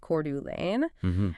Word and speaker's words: Coeur d'Alene: And strictly for the record before we get any emails we are pronouncing that Cordu Lane.